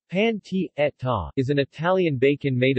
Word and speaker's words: pancetta: pancetta Italian pronunciation panty Etta is an Italian bacon